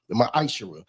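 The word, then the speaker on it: מעשר: The book of Malachi 3:8-10 means t 10th means 10th in Hebrew and it's pronounced misher 10% of every penny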